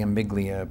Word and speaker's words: amygdala: That's the amygdala portion of the brain. How do you pronounce that?